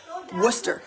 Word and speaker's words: Worcester: is because I am from the town of Worcester City I should say um and that's how you pronounce that w o r c s t e r is pronounced Worcester so I actually have no idea if I'm